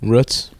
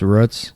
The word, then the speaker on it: Roots: but it's spelled Roots spelled Roots pronounced ruts I think they say ruts can we talk more